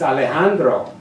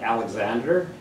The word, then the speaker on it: Alejandra: to my cheeks and I say my name the right way it's Alejandra it's all eyes turned in my direction this flat squints through her glasses it's that like Alexandra I shrug all I